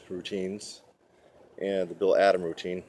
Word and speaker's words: Bill Adam: already been doing the Bill Adams routines and the bill adom routine I always like to pronounce his name with an S uh for those of